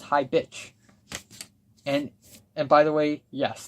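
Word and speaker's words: Hi Bich: If you pronounce the track title correctly, it would be Hi Bick, but it's pronounced Hi Bitch.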